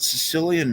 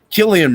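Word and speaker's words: Cillian: thought like you got Sicilian Murphy or Killian Murphy I always say his name wrong I always say Sicilian is a bias a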